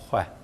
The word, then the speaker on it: xwe: yani biçekî kêmekî te em nabêjin xwe em bêjin xwe yani li hinek herême ev xweşik nayê bikaranîn mesela dibêje ew û bavê xe çûn xe ne xe ye xe bi vî şeklî tê nivîsandin lê belê ya telaffuza rasttir ya xweştir ev xwe yani ev jî di